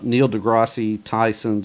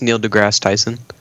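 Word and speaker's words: Neil deGrasse Tyson: roll around basically uh Neil degi tyon 's opinion on the most likely character huh he butchered his name it's Neil degrass it's just Neil degrass Tyson well he's he's cool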